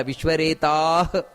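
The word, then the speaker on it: ವಿಶ್ವರೇತಾಃ: ಅಷ್ಟೇ ಹೇಳಬೇಕು ಸುರೇಶ ಶರಣಂ ಶರ್ಮ ವಿಶ್ವರೇತ ನೋಡಿ ಅಲ್ಲಿ ವಿಶ್ವರೇತ ಪ್ರಜಾ ಅಲ್ಲ ವಿಶ್ವರೇತಾಹ ಆರೀತಿ ವಿಶ್ವರೇತ ಪ್ರಜಾಭವ ಮಹಾಪ್ರಾಣ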